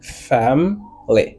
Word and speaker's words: family: Fam ly. Family. ? Ça veut dire c'est deux syllabes qui répéter là-dedans. Ouais c'est fam ly.